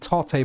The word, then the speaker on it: Tate: Tate mode. I always read it as tape mode, but I know it's Tate mode.